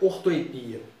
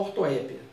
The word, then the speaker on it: ortoepia: O que é a ortoepia? Essa palavra ela pode ser pronunciada dessa forma, ortoepia ou ortoépia, tanto faz. As duas formas são adequadas ao português formal.